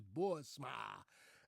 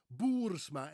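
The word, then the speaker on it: Boersma: Their last name is Bourma, as most Americans would pronounce it, Bourma. BMA Bourma. Of course, we would say in the Netherlands, Bourma, Boursma.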